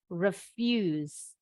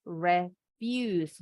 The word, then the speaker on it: refuse: Jadi ini I pendek bunyinya refuse. Kalau ini refuse.